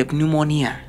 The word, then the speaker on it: pneumonia: katanya Betul ada ada Pneumonia Pneumonia yaitu penemuan kamu tadi mau ngomong apa susah bacanya sebenarnya harusnya dibacanya tanpa P sih ya pneumonia gitu Soalnya kalau pakai p jadi nggak enak denger gitu loh rasanya ya